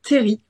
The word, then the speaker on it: terril: Alors, il faut prononcer Terry. Terry, pardon.